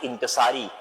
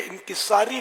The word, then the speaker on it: انکسار: پہلے تو وہ تلفظ کے لیے انکساری لفظ جو ہے نا یہ اہل لغت کے نزدیک غلط ہے. انکسار جیسے عجز و انکسار, تواضع, عاجزی, یہ درست.